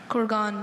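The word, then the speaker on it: kurgan: Corgan. May I please have any alternate pronunciations?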